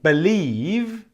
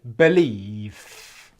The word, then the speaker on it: believe: and belief is that most people when you get the V sound at the end of a word will pronounce it with F pronunciation so instead of saying believe they'll say believe okay and that is wrong and the reason why